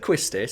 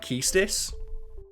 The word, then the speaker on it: Quistis: I don't think anyone knows how to pronounce it, because I've always said Quistis, because I played the game when I was like 7. Mm-hmm. But apparently the official pronunciation is like Keistis.